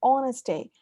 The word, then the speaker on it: honesty: So the H, silent H's, that's one common pronunciation error.